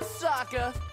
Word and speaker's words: Sokka: boomerang that's right i'm soccer it's pronounced with an akka young ladies i rocked